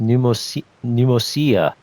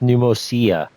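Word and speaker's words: Pneumousia: Oh, so that's how it's pronounced. Pneumosia. I kept my. I don't know why I keep my first initial thought was pneumonia, but it's pronounced pneumosia. Okay, pneumosia.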